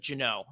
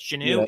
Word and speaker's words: Geneux: um it's pronoun so my dad pronounces it Jano I I say it's Janu it was Janu my